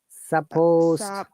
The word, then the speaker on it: supposed: hang on a second you pronounced it earlier clearly supposed supposed d sound very good one more time supposed uh suppose d sound you need to pronounce the d sounder then supposed d supposed make it a bit longer supposed supposed very good